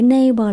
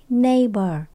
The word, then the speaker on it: neighbor: chị your neighbor chữ neighbor là người hàng xóm mình nhấ đ đầu tiên âm a n neighbor neighbor ổng lật mặt chữ